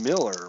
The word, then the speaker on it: Mueller: are it is pronounced Miller really okay Phil Miller even though it looks like Mueller all right the other